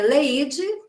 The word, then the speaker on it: Alaíde: A pronúncia de Arnaldo é Leide, mas está escrito Alaide, possivelmente seja esse mesmo nome.